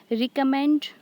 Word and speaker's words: recommend: Recommend, it is divided into three syllables. Recommend. Here re and come, these two syllables are unstressed and mend is stressed.